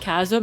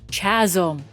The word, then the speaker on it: chasm: was so confused because I've always pronounced Chasm as Chazm. Chasm and they're like it's a pronounced chasm and I'm like I don't care.